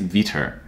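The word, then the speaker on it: Vetur: view developer should have in their toolkit is vitor and so here the way it's spelled is v-e-t-u-r and so you'll want the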